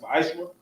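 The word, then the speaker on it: מעשר: Tithes, which commandment comes out of Numbers 18:21, Malachi 3:8-10, means 10th in the Hebrew, pronounced ma'ashra.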